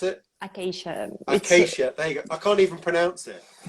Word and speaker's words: acacia: I think this is Achaia, however you pronounce it. Acacia.